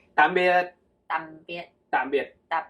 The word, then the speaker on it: tạm biệt: Okay, in Vietnamese you say tạm biệt. Tạm biệt. Tạm biệt. Tạm biệt. Tạm, like, Tạm. with the heavy sound, like a dropping sound.